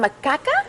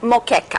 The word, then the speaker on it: moqueca: So, and again, how do you pronounce it again? Macaca? Moqueca.